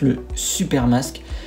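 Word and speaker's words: Xupermask: le super nask dont ça s'écrit pas comme ça ça s'écrit avec un x mais c'est se prononce le super masque c'est un masque de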